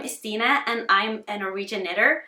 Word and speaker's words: Stine: Well, my name is not really Stine Strikkepine, but my name Stina rhymes with the Norwegian word for headache.